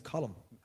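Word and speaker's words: Colm: can't they speak english c-o-l-m is column like what's the problem lads and i mentioned it to roger one day and i said it to him i said like what's the story they're all pronouncing column wrong he's like i know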